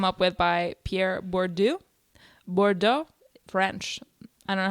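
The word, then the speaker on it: Bourdieu: in class and said Bordeaux and I was like well my joke doesn't make sense to them if it doesn't rhyme with board yo no cultural capital um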